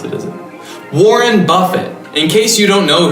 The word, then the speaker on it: Warren Buffett: is basically the same type of investing that Warren Buffet does away that's not how you pronounce it isn't warren buffett in case you don't know who he is